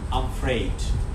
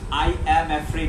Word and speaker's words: I'm afraid: শিখাইছি সো আজকে আরেকবার দেখাচ্ছি সেটা হচ্ছে ওকে আম ফ্রেড উচ্চারণটা প্রনাউন্সিয়েশনটা হচ্ছে খেয়াল করেন আম ফ্রেড আম ফ্রেড আম ফ্রেড আম ফ্রেড আই অ্যাম অ্যাফ্রেড এরকম না I'm afraid.